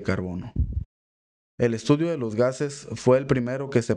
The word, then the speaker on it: chaos: Van Helmont aplicó a los vapores el nombre de chaos, que pronunciado con la fonética flamenca se escucha gas.